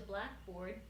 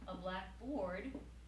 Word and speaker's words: blackboard: what is a Blackboard when you put stress on the first word Blackboard is that thing that you write on with chalk right whereas if you put stress on the second unit Blackboard so for example if I tell you I'm writing on the Blackboard that means I'm writing on a board which is black you know so a